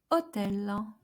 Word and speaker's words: hôtel: And we have, for example, the word hôtel, hôtel, which means hotel. So accent circonflexe on the O doesn't alter the pronunciation of O.